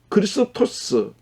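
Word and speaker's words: Χριστός: 그런데 이 그리스도라고 하는 이 말은 헬라 말, 그리스 말입니다. 발음 그대로 읽으면 크리스토스.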